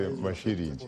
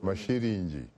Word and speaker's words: Mashiringi: That is very close to my indigenous tongue. I would say Mashiringi. Pronounce it correctly. Mashiringi.